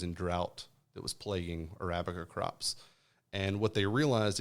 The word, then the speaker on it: Arabica: the Robusta and the how do you say Amica uh Arabica Arabica is the reason the the Arabica is